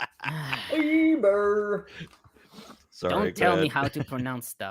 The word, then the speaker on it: Eber: pronounced Heber. Eber. Eber.